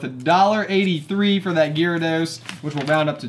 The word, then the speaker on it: Gyarados: school and oh the Gyarados ex you're right I said it wrong it's Gyarados okay I was like